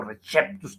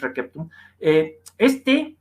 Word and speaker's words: receptum: Y ese textum receptum, ese textus receptus, ese o receptus, que luego mal pronuncian, porque el buen latín es receptum, se lo cree la